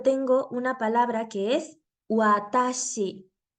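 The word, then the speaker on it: わたし: es la palabra chiua entonces cada vez que yo quiera pronunciar la doble u con la a será como ua nunca como gua de esta manera yo tengo una palabra que es watashi watashi que significa yo es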